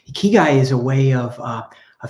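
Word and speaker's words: ikigai: Japanese word is on the left the English pronunciation is on the right a key guy a key guy is a way of of helping a person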